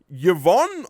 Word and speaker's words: Yvonne: The lead this time can be Yvonne, I believe that's how it's pronounced.